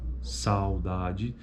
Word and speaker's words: saudade: Veja que na primeira sílaba, que é onde ocorre o ditongo é decrescente, por conta que a proeminência acentual é na vogal A. O U meio que some, ele reduz, então, saudade.